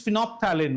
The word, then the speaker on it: phenolphthalein: The third one is known as, when I pronounce it, is phenolphthalein.